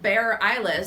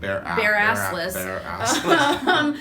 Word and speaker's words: Bareilles: So Sarah Bareilles is not how you say Bareassless. That's not how you say her name, and she's not in the show.